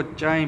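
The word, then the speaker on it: χ: उसका यह जो ग्रीक अल्फाबेट है उसको चाय बोला जाता है। उसके प्रोनाउंस है चाय सी एचआई।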